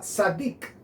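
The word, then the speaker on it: צדיק: bastante mi atención que la primer letra originalmente se pronunciaba sadik exactamente como se dice justo en hebreo satic y la interesantemente lo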